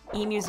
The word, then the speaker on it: emu: See, I pronounce it right. Emu. Not like Wham and his weirdo emu. Makes him sound like a cow. It annoys me to no end how he pronounces that.